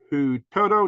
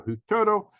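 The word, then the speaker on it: Huitoto: can pronounce this the who Toto children it's spelled h-u-i-t-o-t or who Turtle they were age 13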